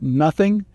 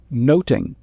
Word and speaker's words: nothing: nothing in Shakespeare's time the word nothing would be pronounced the same as noting so the title much